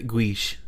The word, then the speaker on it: guiche: It's Guiche. So let me read it how it's pronounced. I was gonna say guiche. Guiche. Like a quiche?